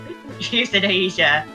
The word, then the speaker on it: euthanasia: Euthanasia. I don't The get it.